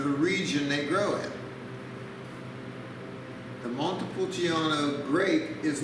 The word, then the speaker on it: Montepulciano: hope you enjoy it our next one is pronounced montepulciano montepulciano is a medieval town in italy it's